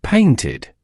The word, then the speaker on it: painted: In the past, it becomes painted. I painted a picture. It's distinctly two syllables. Paint ID.